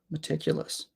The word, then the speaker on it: meticulous: an e sound um so this word is interesting because there are three schah sounds in this word every vowel is awah um which means that every vowel sound here is lazy I'm going to write it for you oh no sorry not not every vowel sound there's um there's four vowel sounds here three of them are schwas sounds why why is it